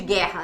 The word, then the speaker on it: guerra: O G e o formam um dígrafo. Dígrafo consonantal. Porque eu tenho duas letras representando um som. G, guerra, G. Sacou? Beleza? Ok. Então, a gente tem um dígrafo aí consonantal. Duas letras para representar o som.